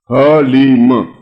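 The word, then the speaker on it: ह्लीं: ये अक्षर बिल्कुल सही उच्चारण होना चाहिए, हलीम, बस।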